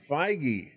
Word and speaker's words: Feige: How do you pronounce his name? I was looking up J.D. Dillard. Kevin Feige. Feige.